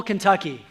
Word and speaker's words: Kentucky: I am originally from Louisville, Kentucky.